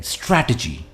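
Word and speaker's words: strategy: list is स्ट्रैटेजी स्ट्रैटेजी य शुरू में एक स्ट्रेस के साथ शुरू होता है और एंड में धीमे हो जाता है स्ट्रैटेजी right for example a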